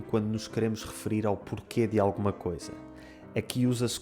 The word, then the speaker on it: porquê: O primeiro é a palavra porquê, com o som E no final, que nós escrevemos com um acento circunflexo.